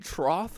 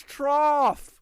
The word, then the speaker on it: trough: my father laid brick you've been saying Troth for years yeah you're nuts man what do you mean cuz it's trough with the F sound with a GH whatever but GH is